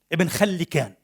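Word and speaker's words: Ibn Khallikan: When the great scholar of Kurdish origin ibn-Khallikan - this is the common pronunciation of his name and it seems the right one. There are other pronunciations.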